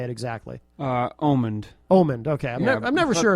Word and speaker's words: Omand: Omand. Omand, okay. I'm never sure if people say Omand, right. and I don't correct them because it's do people. I get Ormond a lot, so that's wrong.